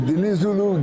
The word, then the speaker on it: Dinizulu: can you say your name my name is Den Zulu and I'll spell it this d i n i z u